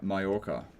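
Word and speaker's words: Mallorca: Pronounce Malora Mayorca.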